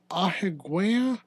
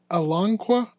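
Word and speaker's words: Alanqa: talk about the bones of a terasaur named Aigua I want to say is how you say it no it's a alongqua along so Alangqua is a fragmentaryary terasaur uh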